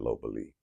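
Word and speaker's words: ลพบุรี: Thailand 2 years ago in the city called Lopburi, but I pronounce it Lopburi, right?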